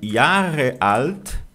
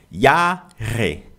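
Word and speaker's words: Jahre: O Yarreal, ele equivale ao years old no inglês e se pronuncia y alt, ok? Yarre. Yarre ou com r na ponta da língua. Yar, tá menos comum, mas um alemão vai te entender, porque esse R no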